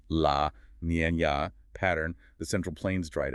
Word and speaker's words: La Niña: Driven by a persistent atmospheric drought, often linked to transitions into a La Niña, pronounced La Niña, pattern, the central plains dried out.